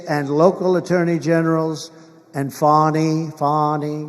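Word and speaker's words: Fani: generals and fonnie fonnie you know fonnie spelled f a n i my name is fonnie f a n i i don't figure it she put a little French accent on the word with her lover Wade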